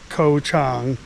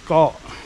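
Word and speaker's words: เกาะ: So the word is spelled in phonics with a K. It's not correct. It's not co-chang. You can say whatever you want. People understand for the most part what you're trying to say. But the the Thai word for island is go spells go.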